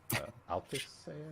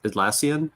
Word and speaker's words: Atlassian: So yeah, I got this graphic from Altissan. I don't even know how to pronounce their Oh, Atlassian.